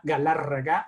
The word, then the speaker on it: Galarraga: and those you there who can roll your R's I am Omar Galarraga and and that's and